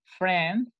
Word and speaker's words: friend: Luego le tienen que contestar, my friend Jason, friend, acuérdense que no se pronuncia la I.